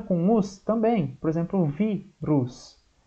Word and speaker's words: vírus: Por exemplo, vírus. Vírus termina com us, a sílaba mais forte é o vi, então vai acento.